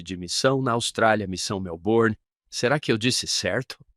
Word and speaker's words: Melbourne: missão na Austrália, missão Melbourne. Será que eu disse certo? Você não pronuncia os R's. Melbourne. Melbourne.